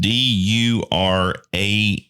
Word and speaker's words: Durand: It's spelled DURAND, and if you just type that in, it's Duran Jones and the Indications, and I think probably